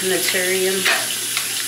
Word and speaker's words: Naturium: And then I'm gonna use Naturium.